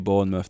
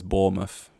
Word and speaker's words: Bournemouth: involved I'm like what it's literally born with they're like no it's Bournemouth I guess if you're